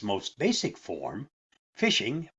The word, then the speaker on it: phishing: But in its most basic form, phishing, pronounced phishing, is a scam in which a victim is tricked into sharing sensitive information or download ransomware.